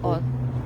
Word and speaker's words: Hull: But if you're a true local, you don't pronounce the H. So Right. it's just Hull.